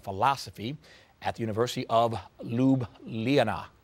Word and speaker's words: Ljubljana: for Sociology and Philosophy at the University of Ljubljana, correct? Say that right. Tolerable. Yes. Close enough? Yeah. How would you say it? Ljubljana. Yeah, see, you said. But nobody pronounces it correctly.